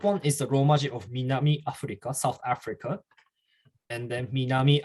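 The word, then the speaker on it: 南アフリカ: So everyone say Minami Africa.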